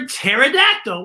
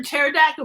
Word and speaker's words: pterodactyl: when we say it but sometimes there's when we put letters together a letter will become silent and it takes on the meaning of the letter right next to it and we're going